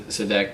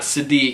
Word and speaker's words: Sadek: Sadek. It's not Sadiq. He's in Classic Physique. It's Sadek.